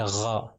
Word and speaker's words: غ: اور غین جو ہے نام ہے اس کا، اور اس کا تلفظ جب اس کے اوپر زبر آ جائے گا تو اس کو کہیں گے غا. غین کے اوپر جب زبر ہے تو غا ہو جائے گا.